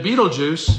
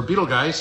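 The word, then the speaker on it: Betelgeuse: three belt Stars Then Beetle Juice or Beetle Geist as it sometimes pronounced becomes abua wash and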